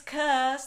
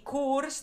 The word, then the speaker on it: course: No es curse, ni course, ni nada así, sino que es course. O española, pero un poquito más larga. Recordad que la R no se, pronuncia, así que tiene que ser course, en inglés estándar. Course.